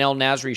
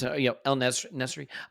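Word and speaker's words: En-Nesyri: Like, it's great buildup from Sevilla and an El Nasri shot. Is that how you say his name? It's not, probably not. How you say it. It's El Nesri.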